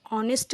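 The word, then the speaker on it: honest: तरह कर रहे हैं जब हम ऑनेस्ट बोल तो उसमें एच साइलेंट है और आवाज क्या आ रही है ओ की आवाज आ रही है ऑनेस्ट आ से अह के बीच में तो इसीलिए हम यहां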